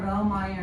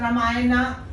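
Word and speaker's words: रामायण: English in Hindi we write ra ramayan or ramayan I don't know ra ramayan okay we don't say ramay but in English since we put a people start pronouncing it as ramayana Mahabharata Rama is it Rama it is Ram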